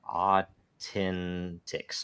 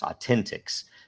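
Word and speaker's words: AU10TIX: uh uh how do you pronounce it it's pronounced uh Authentics Authentics uh is an Israeli company that was doing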